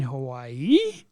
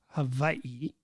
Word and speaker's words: Hawaii: guests say aloha to the Dole Whip at Aulani Resort in Hawaii. Mm-hmm. Aloha. Haven't been there yet. And it's actually called Hawaii. Hawaii.